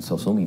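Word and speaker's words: Sosumi: And then I thought, that's actually the right name. I'll just have to spell it funny. So I spelled it S-O-S-U-M-I, and then I said, it's a Japanese word, it doesn't mean anything musical.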